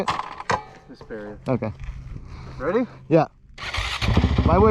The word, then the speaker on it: Hesperia: Hesperia.